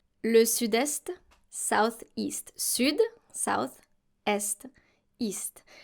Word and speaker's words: est: Sud, south, est, east. Now here you have to pronounce the S and the T because we're talking about the east, l'est, and not the verb être conjugated.